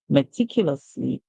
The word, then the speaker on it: meticulously: of English words but the O silent and the US makes the sound off so we he me Q me and meticulous and the l y at the end the Y says e so we hear Le the l y here says Le meticulously meticulously all right